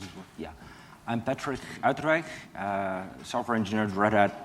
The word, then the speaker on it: Uiterwijk: How to pronounce it? Uiterwijk.